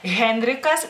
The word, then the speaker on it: Henrikas: recuerden que en lituano la letra H no es un fantasmita, se tiene que pronunciar en la palabra que sea, en nombres o, bueno, alguna